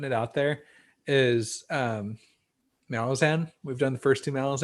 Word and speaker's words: Malazan: some of those yeah quick quick correction there it's actually malazan oh yeah yeah often often uh mispronounced but i listened to an interview with steven erickson he said malazan so we're we're going